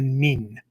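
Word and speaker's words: 忍: The nin of ninjutsu, of ninpo, right? It's the Japanese pronunciation of the original Chinese that go along with this kanji, right?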